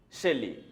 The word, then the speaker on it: Shelley: Shelley. You care the pronunciation of Shelley. Shelley. This is Shelley. Some students say Shelley, Shelley, Shelley. No, Shelley. The right pronunciation is Shelley.